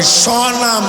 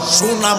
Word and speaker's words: স্বনাম: ওই সমস্ত মানুষকেই বলা হয় স্বনাম ধন্য। সুনাম না, সুনাম না, স্বনাম। ওনার নামে উনি ধন্য। এটা আবার আমরা উচ্চারণ অনেক সময় কই সুনাম ধন্য মুবাসসিরে পড়ি না, স্বনাম, নিজের নামে নিজে ধন্য।